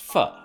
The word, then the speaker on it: pho: Pho, pronounced pho.